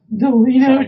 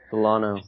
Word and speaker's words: Delino: His name's Delino. Delano. That's like not Delino. It's Delano. Delano? It's like There's no way. It's spelled Delino. It's Delino. It's Delano. It's Delano. I think it's just, Delano. I think the way Farbod's pronouncing it is just a very soft I, like Delano.